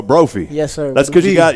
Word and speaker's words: Brophy: Brophy is it pronounced Brophy yes no it's like trophy but Brophy yes that's good you